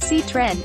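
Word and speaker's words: Citroën: on June 4th 1919 Citroen pronounced C trend is a French car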